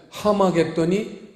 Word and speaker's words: 하마겟돈: 그래가지고 헬라어에는 그런 표현이 없으니까 어퍼스토피 거꾸로 해놓은 거, 그걸 보면은 왜 흐 발음이 되는데, 그런 흐 발음이 헬라어에는 없기 때문에 하마겟돈이 아마겟돈이 됐어요.